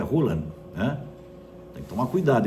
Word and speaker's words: Haaland: Dizem que não é Haaland, dizem que a pronúncia certa é Hulan, hã?